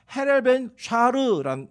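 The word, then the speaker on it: הילל בן שחר: 이게 히브리어로는요 헤렐벤 샤르라는 단어, 이게 발음이고, 헬라어 70인강으로 번역을 하면 헤어스포로스라는 이게 단어예요.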